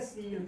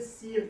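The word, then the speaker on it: she'll: ठीक है, इसे क्या कहेंगे, प्रोनाउंसिएशन कैसे प्रोनाउंसिएशन, सील कहेंगे, इसे सील कहेंगे। एस एच आई कॉमा लगा के डबल एल, इसे सील कहेंगे कंट्रैक्शन वर्ड में।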